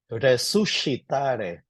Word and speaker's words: resuscitare: Take note of the S and the C followed by the I. It's pronounced as letter SH. Resuscitare.